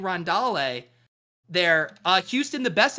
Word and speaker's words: Rondale: ff doom mentioned this should have pronounced it rondale chris g has infiltrated